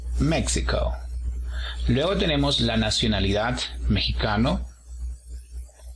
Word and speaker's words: México: segunda sílaba méxico méxico/la el acento en la primera sílaba méxico luego tenemos la nacionalidad